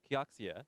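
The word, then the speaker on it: Kioxia: hundred years to our new brand which is kkeok SIA yes pronounced that's gonna happen on October 1st and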